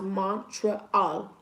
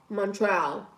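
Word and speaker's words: Montréal: Montreal is pronounced Montreal. Montreal.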